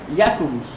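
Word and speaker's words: Iacobus: versión griega del nombre en latín el nombre no se pregunta ya cobos polaco se pronuncia jacobus aún suena raro para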